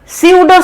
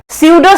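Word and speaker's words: pseudo: Crystalline solids को true solid कहा जाता है, जबकि अमॉर्फस सॉलिड को स्यूडो सॉलिड कहा जाता है। स्यूडो spelling is PACUDO, P is silent.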